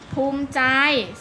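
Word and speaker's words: ภูมิใจ: อิ ไม่ ออก เสียง ภูมิ ใจ สระ อิ อิ ไม่ ออก เสียง ประวัติ ต่อ เต่า ไม่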